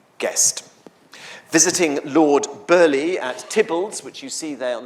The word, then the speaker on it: Theobalds: Visiting Lord Burleigh at Tibbalds, which you see there on the map, spelt Theobalds, but pronounced Tibbalds, the Queen complained that